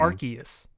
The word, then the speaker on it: Arceus: Everyone in that presentation, they pronounced it Um, Arceus, like with a hard C.